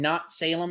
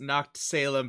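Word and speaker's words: Noctsalem: favorite so far um not salem or something like that and normally i would say that what how can you say no it's pronounced knocked salem because the a is the cat but then i realized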